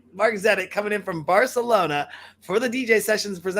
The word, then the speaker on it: Marzenit: the virtual studios in Seattle Washington and that's Mark Zenit I said it right yeah yeah I think I said I got it right Mark's at it coming in from Barcelona for the DJ sessions